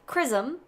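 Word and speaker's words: XRISM: thing in prism the chrism telescope uh and that's how it's pronounced it's spelled x-r-i-s-m which stands for x-ray Imaging and spectroscopy Mission but pronounced chrism I'm really glad you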